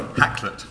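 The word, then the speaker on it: Hakluyt: servant, who currently works for, I can never pronounce it, say it. Caught me at a bad moment. Sorry. Hacklet.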